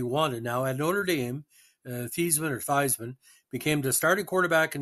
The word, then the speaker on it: Theismann: Theismann, whose last name was actually pronounced Theismann, recounted in 2007 there was Notre Dame publicity man Robert Valdeseri, who insisted that he change the pronunciation of his name to rhyme with Heisman, but he finished second